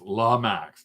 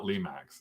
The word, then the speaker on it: Lemax: According to Google, according to ye old Carl, Lemax is pronounced Lamax, not Lemax, if that helps you.